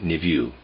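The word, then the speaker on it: niveau: most perfect most beautiful the word i'm pronouncing or trying to pronounce there is n-i-v-e-a-u i'm pronouncing it niview concerning the word nouveau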